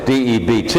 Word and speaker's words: debt: taking on a day it's almost like there's no be dead pronunciation was dead Det but it's de BT is the correct spelling